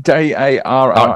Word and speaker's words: Dara: Dara, am I pronouncing that right? D-A-R-A.